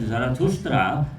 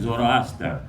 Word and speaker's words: Zarathustra: the prophet was Prophet Zarathustra, but the Greek philosophers who studied his teachings and philosophy pronounced his name as Zoroaster.